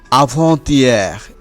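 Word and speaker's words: avant-hier: এরপরে কি রয়েছে আভন্তিয়ার, এখানে আভ এর শেষে তে এবং ইয়েক এর শুরুতে যে স্বরধ্বনি ই তার সাথে সন্ধি হয়েছে আভন্তিয়ার।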